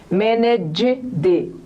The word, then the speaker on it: managed: O primeiro som é D, do G, e depois é o som D, mais sequinho. Então, ó o biquinho, G, D, managed.